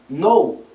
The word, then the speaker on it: know: Por exemplo, a gente tem palavras terminadas em K e N no inglês, onde a gente não pronuncia o som do K. Know, saber, knife, faca, knee, joelho, doorknob, maçaneta.